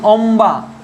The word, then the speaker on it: অম্বা: আর একটা শব্দ দেখো, বর্ণ দেখো ম, ম এর সঙ্গে যদি উচ্চারণ হয় যেমন অম্বা, অ ময় বয়াকার, দেখো অম্বা, ম এবং ব পরিষ্কার রূপে উচ্চারণ হচ্ছে।